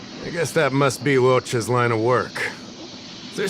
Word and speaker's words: Luocha: That's right, Luocha. Oh, I said it wrong. Luocha.